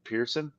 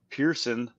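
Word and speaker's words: Pierson: that's how they spell Pearson I don't know we'll have to listen how they say it on Golf Channel it's like the word Pierce and then the word Sun usually it's just like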